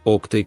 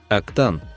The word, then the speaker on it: Oktay: Y una pequeña pero necesaria corrección: es Oktay Kaynarca, no Oktan, como a veces se escribe erróneamente.